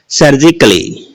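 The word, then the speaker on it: surgically: सर्जिकली, शल्य चिकित्सा, तो डबल एल वाई से पहले ए आया है या ए के बाद क्या आया है, डबल एल वाई, तो ए का उच्चारण नहीं होता, ए क्या होता है, साइलेंट होता है।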